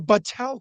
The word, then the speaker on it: Battelle: now I work for, this is the first time I'm saying this and saying it correctly, the Battelle Corporation, Battelle, but not the satellite, but not the Seattle